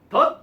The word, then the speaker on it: that: 그러니까 that이 만약에 관계대명사나 아니면 접속사에 that을 쓸 때는요. 뭔가 비중을 많이 두지 않고 발음할 때는 얘가 that이 아니라 덧이라고 발음할 때가 있어요. 그럴 때가 있거든요.